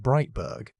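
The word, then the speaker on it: Breitburg: In 2018, Denise Breitberg, pronounced Breitberg, and a large team of ocean scientists published a review in the journal Science pulling together decades of oxygen measurements.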